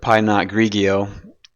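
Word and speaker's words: pinot grigio: A little dry for pine not grigio. And that is definitely how you pronounce it if you think otherwise.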